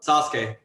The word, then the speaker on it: Sasuke: Sasuke.